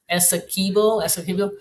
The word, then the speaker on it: Essequibo: Linda says you got the pronunciation Pronunciation right? correct. Essequibo.